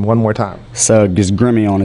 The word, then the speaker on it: Gremillion: tabs on you and uh give us a pronunciation your last name one more time Su is Grimmy on its French grimon yes that's well that's an